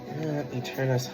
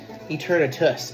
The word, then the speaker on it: Eternatus: Eternus Hollow. Eternatus, excuse me. Don't want to be called out for saying the Pokemon's name wrong.